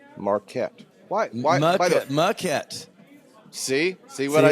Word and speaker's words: Maquette: It's the most mispronounced thing. I would say that people say Marquette Yeah, more than they say Maquette.